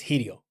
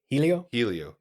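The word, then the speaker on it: Hélio: So I think the Brazilians pronounce their R's as H's. Yeah, so I think it's Helio or something. Helio.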